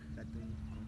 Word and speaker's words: hatun: Por ejemplo, se escribe Hatun con H y se pronuncia Jatun con J.